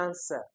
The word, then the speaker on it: answer: That says the stress is on the first syllable. The correct option here will be answer, answer, answer, forget, understand.